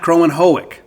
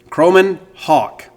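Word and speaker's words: Kromenhoek: it down to me it's Crow then men Hawk it's not chroman hoic that's how it reads fanatically that's how it looks but it's chroman Haw croman Hawk croman Hawk Luke croman Hawk and my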